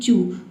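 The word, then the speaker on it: chew: चू में देखिए सी एच के बाद ई डब्ल्यू आया है। ठीक है? तो इसे हम उ पढ़ते हैं। ई डब्ल्यू को सी एच का च हो जाएगा और ई डब्ल्यू का हो जाएगा उ। ये हो जाएगा आपका चू।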